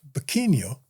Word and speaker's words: Barqueño: And it was actually a V, because in Spanish, the V is pronounced like a B. Really? Yeah. So what he meant to say was Barqueño.